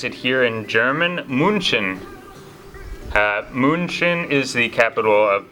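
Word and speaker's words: München: Germany as well third on the list is Munich or as they pronounce it here in German Munchen Munchen is the capital of Bavaria which is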